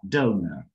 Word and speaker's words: donor: Y miren esta palabra, donor, ¿ok? Es una palabra donde tiene dos O y cada O tiene un sonido diferente. ¿No? Esta es do, es O, y esta es O. Schwa, donor, ¿ok?